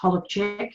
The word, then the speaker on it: Holubczyk: I was born Holozak, or it's pronounced Holubczyk in Polish, on the 28th of October 1969 in Sydney, Australia.